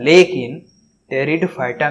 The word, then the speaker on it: Pteridophyta: अंग्रेजी में Pteridophyta को ध्यान में रखें। टेरिडोफाइटा में, P अक्षर साइलेंट रहता है।